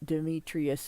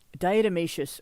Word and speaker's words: diatomaceous: And yes, it's not Demetrius, it's diatomaceous earth, I think is the way it's pronounced.